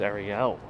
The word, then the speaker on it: Ariel: is my name is ariel it's pronounced ariel in spanish the original pronunciation those buildings are really